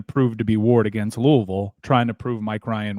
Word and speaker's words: Louisville: By the way, you relish the opportunity to pronounce that right. Louisville.